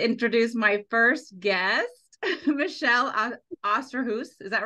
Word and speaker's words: Osterhus: So, um now I get to introduce my first guest, Michelle Osterhoudt, is that right? Yeah, you got it right. Osterhoudt. I think Dan and I have been pronouncing it wrong and then I realized I think it's not what I'm saying.